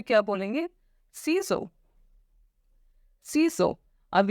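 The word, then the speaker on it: ciseaux: Okay, दूसरा आता है हमारा सीजर्स।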